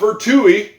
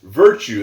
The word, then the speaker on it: virtue: Well, to start with, it's not virtui. It's not virtui, it's virtue. That's a silent E at the end.